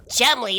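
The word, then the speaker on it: Cholmondeley: Chumley?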